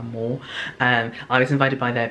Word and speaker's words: MOR: I'm pretty sure that's how you say it, M-O-R, Moore.